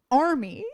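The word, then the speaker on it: Armie: Army. I will never remember it. It's spelled I will never Army.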